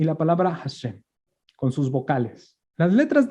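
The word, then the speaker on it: השם: ¿Cómo se pronuncia? Hashem.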